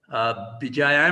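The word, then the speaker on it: Béjaïa: Bijaya, am I pronouncing it correctly, Dr.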